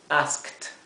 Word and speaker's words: asked: y fíjense que aquí aunque la terminación es e d esto se pronuncia como si fuera una t una letra T por eso lo he